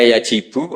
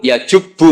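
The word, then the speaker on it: يجبّ: Terus Nabi ngendikan, "Alislamu yajubbu maqoblah." Itu bacanya bukan yajibu tapi apa?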